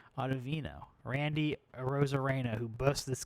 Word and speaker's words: Ottavino: Ottavino. And I think I pronounced him like Octavian before. Ottavino.